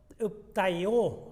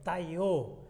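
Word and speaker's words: πταίω: Es la palabra que viene de taió, así se pronuncia en el griego, taió, que es tropezar, equivocarse, pecar.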